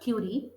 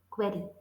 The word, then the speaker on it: query: pronounce this word cuy no it's not Cy it's query query query query I